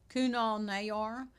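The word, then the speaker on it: Kunal Nayyar: Kunal Nayor, there you go.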